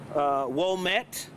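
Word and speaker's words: Ouimette: It's pronounced Womet, Lieutenant Ed Womet, and it's spelled O-U-M-I-E-T-T-E.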